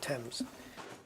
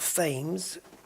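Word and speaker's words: Thames: it's it's yeah TS we to pronounce it TS not fames so sample number two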